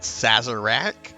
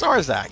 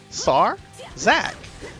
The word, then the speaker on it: Sarzac: It's Sarzac. It's just It's two simple syllables. Sar Zack. Sar like like you know the disease from a few years ago. SARS.